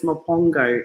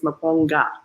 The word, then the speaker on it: Maponga: dyslexic and he put your name as mapongo it's maponga everybody so i apologize